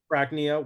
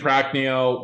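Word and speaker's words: Prachnio: William Knight versus marcinho brachnia what did I say Virginia it's about time I correct you on some pronunciations here um marcine pracneo William Knight practice had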